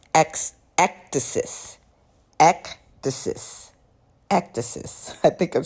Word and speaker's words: ecdysis: And I believe it's pronounced ectasis.